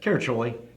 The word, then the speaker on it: Caraccioli: Caraccioli.